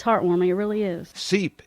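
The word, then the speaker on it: Sipe: heartwarming it really is seep is spelled s-i-p-e when you walk into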